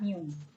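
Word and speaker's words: μ: dia tetap sebutannya rata-rata lambangnya adalah Miu ya Ini bacanya adalah Miu jadi Miu ini dia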